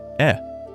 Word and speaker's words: へ: you use the particle e after the destination. A quick note, this particle is written with the hiragana for he, but when used as a particle, it is always pronounced e.